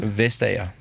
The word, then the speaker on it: Vestager: Vestager. And their first name? Margrethe. Right. Margrethe Vestager. I would have gone Margarita Vestager.